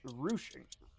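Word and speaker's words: ruching: It's apparently pronounced rouching.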